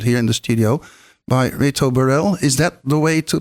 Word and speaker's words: Reto Burrell: songs live performed here in the studio by Reto Burrell. Is that the way to pronounce it?